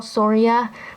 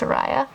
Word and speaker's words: Soraya: I call my doll Soria, but I think it's pronounced Soraya.